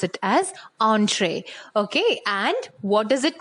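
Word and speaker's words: entrée: it is because students this is a french word and the french people they also pronounce it in this manner only so it's better if you pronounce it as entree okay and what does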